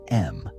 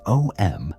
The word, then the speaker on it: Om: The universal master tone is what you write as om, but which should be pronounced as a continuous sound that begins with a, transitions through u, and ends with m.